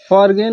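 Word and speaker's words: foreign: और दूसरा है कि जब कभी यन से पहले जी हमेशा साइलेंट हुआ है।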